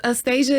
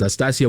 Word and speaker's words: Astasia: It's Astasia is the Russian way, or American, whatever my mom says, and my dad says Astasia. Astasia, so. Yes. Astasia would be the Latin pronunciation.